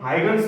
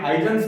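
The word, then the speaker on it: Huygens: हाइगन्स भी बोलते हैं, हाइजन्स भी बोलते हैं, जो भी है।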